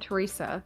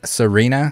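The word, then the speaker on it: Sirena: lass and oh Thea why do I keep calling it Teresa it's it's Serena so you basically just don't pronounce the T Serena like Serena Williams except she doesn't have a t in her name I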